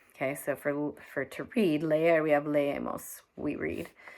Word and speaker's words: leer: It looks like leer, L-E-E-R. It's leer, 2 syllables.